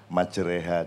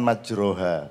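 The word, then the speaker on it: مجراها: Majreha, jadi agak lebih rotok di model-model. Aslinya kan majroha, tapi bacanya orang-orang desa dulu Bismillahi majreha wa murseha.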